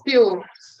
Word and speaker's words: Fewell: I'm going to introduce now Brent Fewell. Did I pronounce that right? Fewell? Fewell. Just like yes. Fewell.